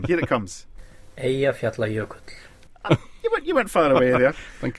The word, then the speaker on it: Eyjafjallajökull: Eyjafjallajökull. It's not bad. Do you want to hear the official pronunciation? Here it comes. Eyjafjallajökull.